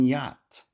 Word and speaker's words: yacht: To add to the confusion, sometimes ch is silent, like in yacht.